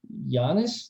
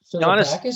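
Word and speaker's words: Yannis: you remember this name, Giannis, I think you pronounce it. Giannis, yeah. Is it Giannis? It's Yan.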